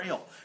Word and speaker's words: Ehle: Jennifer, how do you think you say her last name? It's not how you say it, but it's EHLE for Oslo. Laura Linney. I'm on For Little I'm on Foxes. there. And Oh, Lori- Jennifer Ale. Jennifer Ale.